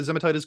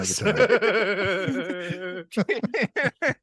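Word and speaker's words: Zemaitis: Did you say zematitis? Is that how you say it? Zemitis? It's not an infection, dude. I know it Zemitis. sounds like an infection.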